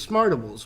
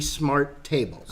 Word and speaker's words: SMRTables: you're pronouncing the name it rolls off the tongue easily as smart ovals but it's actually smart tables okay I'm trying to